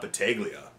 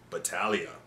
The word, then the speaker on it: Battaglia: Not Battaglia. Battaglia.